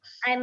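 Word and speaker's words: huit: add something that um in French always whenever h letter comes and the beginning of a word you just have to keep it silent and then pronounce the other letters ahead of it so now for example yes it if you ignore your H the remaining three letters are u i t which is pronounced as I so whenever you're reading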